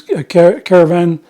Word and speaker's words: Caravanserai: That's what they called them, as Caravanserai, how it's pronounced.